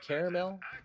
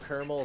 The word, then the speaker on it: caramel: do you pronounce it caramel Carmel caramel can we agree that kermel is wrong at least I can I can respect caramel and caramel people but kermel come on man that ain't right I